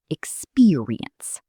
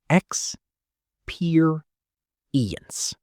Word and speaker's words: experience: The stress is on the second part, experience. Experience. Let's say it slowly. X per ience. Good.